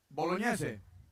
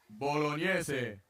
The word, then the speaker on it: Bolognese: Bolognese. Thank you for saying that right. Bolognese.